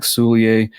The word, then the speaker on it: Soulliere: So this week we've got Zack Soulliere. Zack, did I pronounce that right?